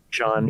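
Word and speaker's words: Ihsahn: The one connection I have to Ishan how's that how you say his name? Ishan? Sean.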